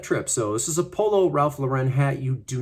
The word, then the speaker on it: Polo Ralph Lauren: It's Polo Ralph Lauren.